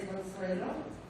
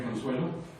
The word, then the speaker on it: Consuelo: Again, please correct my pronunciation. Hello, ma'am. El nombre es Consuelo. Soy. Again, Consuelo.